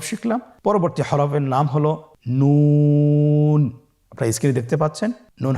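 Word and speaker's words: ن: আপনারা জিহ্বার আগাটা তার বরাবর উপরে তালুর সঙ্গে লাগিয়ে উচ্চারণ করুন এবং আমার সাথে বলুন নুন। আবার বলুন নুন।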